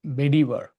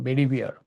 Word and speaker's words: Bedivere: So when King Arthur, you know, he was on a deathbed, he was educating his colleague, Sir Bedivere or Bedivere, whichever way you pronounce.